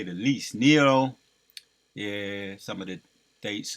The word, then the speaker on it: Nero: to the ground and I was calling IM Neo in my video yesterday so I I'll make a correction on that it's Nero right that's how you pronounce it Nero he would force people